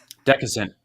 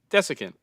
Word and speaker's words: desiccant: They have these special air dryers that I don't know how to pronounce that word. Decusant. Desiccant.